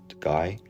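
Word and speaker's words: Gey: patients so he called George guy pronounced guy head of tissue culture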